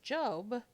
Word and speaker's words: Job: Magi or the star job pronounced job was your basic nice